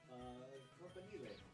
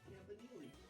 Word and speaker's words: campanile: There are different ways to pronounce this word. If you prefer the Italian, campanile, or campanile, you went to Berkeley.